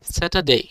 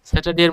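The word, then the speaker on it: Saturday: যদি আর এর পরে কনসোনেন্ট থাকে তখন আর সাইলেন্ট। যেমন স্যাটারডে স্যাটারডের মধ্যে আর এর পরে কনসোনেন্ট আছে।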